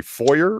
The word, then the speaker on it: foyer: pulling the crowd here it do you say foyer or foil a oh yeah ah my trash a safe